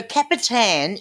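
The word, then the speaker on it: Kapitän: So it is actually so Capitan is the German pronunciation of captain, and that's where it came from.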